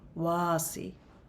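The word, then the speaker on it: Wasi': And this one is called Wasi. Now, Wasi is spelled W-A-S-I apostrophe. And in this dialect, that apostrophe means something. It means kind of it almost sounds like Wasia. It's like a sound.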